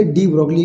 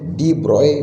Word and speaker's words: de Broglie: अच्छा, डी ब्रॉगली का pronunciation डी ब्रॉय भी कुछ लोग कहते हैं, तो डी ब्रॉय बोलो, डी ब्रॉगली बोलो, हमें उससे क्या है, हमें तो पढ़ने से मतलब है ना।